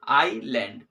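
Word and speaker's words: island: होगी ठीक है ना यहां पे जो है एस जो है वो साइलेंट है ठीक है ना आई लैंड ओके तो दिस वज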